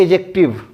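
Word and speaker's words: adjective: तो मैं बच्चों प्रोनाउंसिएशन करके बता रहा हूं एडजेक्टिव, एडजेक्टिव ना कि एडजेक्टिव, ठीक है, एडजेक्टिव। डी बच्चों साइलेंट रहेगा।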